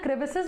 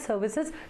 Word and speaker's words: crevices: the active sides right so actually it is the crevices I always call it as Services just to remember this I don't know sometimes you start reading a word incorrectly and lifelong you pronounce it incorrectly that's my case so it is uh crevices basically I always call it as Services okay that's my fault so